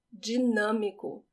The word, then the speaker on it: dinâmico: Dinâmico, dinâmico. The way I pronounce the D in this word is G, but in some places in Brazil they say D.